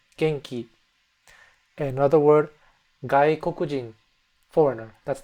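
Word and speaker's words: 元気: So it's kind of like an English ng sound to it. G E N K I. But that N has a G, a soft G attached to it. Genki. From this N sound, we're going to seg into the G sound.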